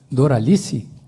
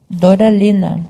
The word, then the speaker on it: Doralina: É Doralice? Doralina. Doralina.